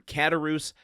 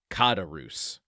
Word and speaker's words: Caderousse: haunted by this, I I looked up some pronunciations and of course there are some slight variations, but the one that seems to be most consistent is kadarus. Katarus. So, I'm just going to try to do that one moving forward.